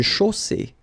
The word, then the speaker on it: chaussée: Une chaussée. Okay, here, final not pronounced. And then you get the double S between two vowels, so it's really strong. I mean, the S is s.